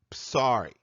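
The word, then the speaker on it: ψάρι: Phonetically, it is psari, as in the Greek dish psari plaki, meaning oven-baked fish.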